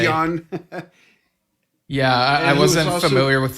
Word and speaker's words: Jan: corrected me I forgot it's not Jan Ackerman it's yawn oh sorry Yon yeah I wasn't familiar